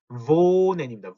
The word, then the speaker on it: wohnen: 자, 모음 뒤에 나오는 하는 어떻게 써요? 앞에 있는 모음을 길게 발음한다. 그래서 wohnen입니다. wohnen. 그냥 wohnen이 아니고 wohnen.